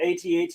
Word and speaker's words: AT-AT: Blast off in the comments, how do you pronounce it? AT-AT or at? We'll know exactly how old you are. No, I say AT-AT.